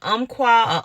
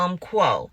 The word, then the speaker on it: Umpqua: how to pronounce it it's either Umpqua or um quo so those who use